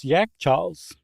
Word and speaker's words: Yakhchāls: And apparently still today in Iran, Afghanistan, and Tajikistan, yeah, I said it right the first time, they call the refrigerators Yakhchāls, which is how I would say it if I were in Iran.